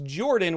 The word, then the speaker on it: Jorphdan: ages my name is Jordan with a silent pH in the middle and I am joined